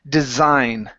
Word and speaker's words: design: word design so here we want to use the the voiced s like a z design design okay and uh